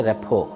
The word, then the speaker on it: rapport: সেটার নাম হচ্ছে রেপো এখানে স্পেলিং দেখলে মনে হবে রেপোর্ট কিন্তু উচ্চারণ হচ্ছে রেপো।